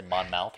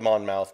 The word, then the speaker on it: Monmouth: I say Monmouth or something? It's spelled Monmouth, but it's pronounced Monmouth. Monmouth. Yes. So it's like Worcester. It's like Worcester. It's about like, yeah, Worcester sauce.